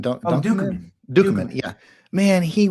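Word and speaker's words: Ducommun: Dukeman, Dukeman.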